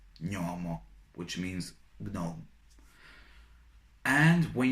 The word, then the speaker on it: gnomo: For example, when you have GN, it is pronounced as ny, ny. Like, for example, in a word gnomo, gnomo, which means gnome.